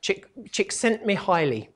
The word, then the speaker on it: Csikszentmihalyi: And actually, that's not quite right. I always try and pronounce it, and it's never quite right. Csikszentmihalyi, his name is.